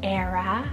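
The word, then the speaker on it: Aera: I have the name Era, spelled A-E-R-A, Era.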